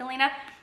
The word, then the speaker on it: Alina: female character Alina but sometimes they pronounce it like Elena it's kind of pronounced like Elena she is in uh